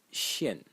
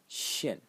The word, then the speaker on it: 限: The next character, and this is when finally we have a difference in pronunciation, is pronounced Xian. Xian.